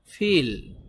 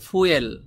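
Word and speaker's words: fuel: এখানে একটি গুরুত্বপূর্ণ কথা আছে এই শব্দটির সঠিক উচ্চারণ হবে ফিল গুগল ট্রান্সলেট এভাবে করে বলে ফিল ফিলের মত করে বলে ফিল কিন্তু এই শব্দটিকে আমরা এভাবে বলতে পারি ফুয়েল ফুয়েল বললে আপনার ওদের উচ্চারণের সাথে মিলবে না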